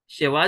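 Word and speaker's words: שווא: Okay, तो ये है, इसको कहते हैं श्वा। कोई कोई इसे शेवा भी कहते हैं, शेवा, लेकिन एक्चुअल में इसको श्वा बोलते हैं।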